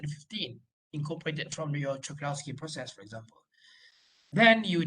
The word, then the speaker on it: Czochralski: CZ lah, kita panggil CZ, tapi Czochralski, that's how you pronounce it. Czochralski, yeah.